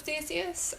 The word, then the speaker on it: Theseus: It follows maybe a side story of Theseus I'd never heard before.